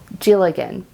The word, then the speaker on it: Dealgan: So I'm really excited to try out more of this type of Dealgan spinning. I know it has a D on it, but it's pronounced like a J, so Dealgan.